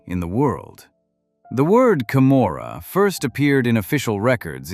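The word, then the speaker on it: Camorra: The Kamora, pronounced Kamora, was born in those conditions and has survived every attempt to destroy it for more than 200 years.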